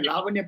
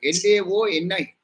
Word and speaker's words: Laoni: So it's not Lavanya Patta. In Telugu, these people pronounce it as Lavanya Patta. There is one candidate by name Lavanya also among yourself. But Leoni, it's not Lavanya. Laoni.